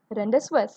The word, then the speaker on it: rendezvous: Many of them would have pronounced just like Rendezvous. Okay, Rendezvous, but the actual way of pronouncing this is rendezvous.